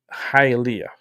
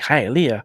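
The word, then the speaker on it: Hialeah: I grew up in Hyia. Okay. Go check in your maps. Like Halia. How you spell that?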